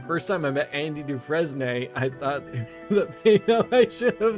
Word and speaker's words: Dufresne: is is like is like the s silent is it like dufresne i just picture you